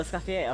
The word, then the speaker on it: Escoffier: Oh, Escoffier. Okay, that's how it's pronounced.